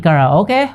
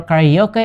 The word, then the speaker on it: karaoke: you guys like singing kara okay or karaoke as americans say it and probably have thought